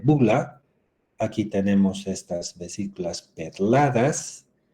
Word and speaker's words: bulla: eso se llama bulla se escribe bulla pero se lee bula aquí tenemos estas vesículas